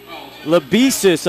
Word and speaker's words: Lebesis: And it's Lebesis, I'm told now.